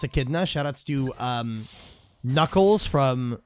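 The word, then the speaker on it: echidna: Make G the the Achidna. I know it's pronounced Akidna.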